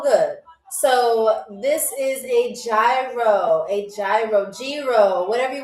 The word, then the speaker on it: gyro: So, this is a gyro. A gyro, gyro, whatever you want to pronounce it as. Some people say gyro, some people say gyro. I call it gyro cuz I'm from New York.